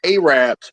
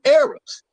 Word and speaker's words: Arabs: We're not Arabs.